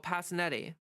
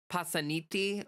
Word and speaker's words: Passanetti: Because like, first of all, Passanetti is like an Americanized pronunciation of the Italian name. Like I'm pretty sure if it was pronounced in proper Italian, it would be like Passaniti or something like that.